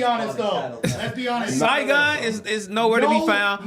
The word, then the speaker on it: Saigon: Sedagon, how you say his name? Saigon. I said Sedagon.